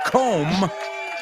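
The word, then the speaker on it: comb: rhymes with home yes com rhymes with home and the third one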